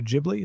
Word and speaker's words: Ghibli: The studio was it Studio Ghibli? Is that how it's pronounced? It's Studio Ghibli.